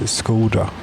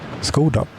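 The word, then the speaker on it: Škoda: I would guess it is Skoda. Yes, I know that's not how you say it, but how it is said in Czech. However, it is how we say it here. Skoda.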